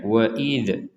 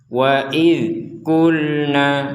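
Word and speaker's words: وَإِذْ قُلْنَا: Nah, pada video sebelumnya ini sudah dibahas bahwa huruf dzal tidak boleh dipantulkan. Jadi jangan sampai kita membacanya wa'idz, id, tidak ada pantulan sama sekali. Jadi yang benar wa'idku, idku, nah, tidak ada pantulan. Wa'idkulna, nah ini juga lam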